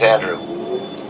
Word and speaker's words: Andrew: I mean, Andrew or Andrews? I'm looking no S. Just Andrew. No S. Got it.